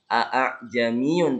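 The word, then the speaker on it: أَأَعْجَمِيٌّ: Ini cara bacanya bukan a'jamiyun tapi a'jamiyun wa arabi. Diseret a'jamiyun ya.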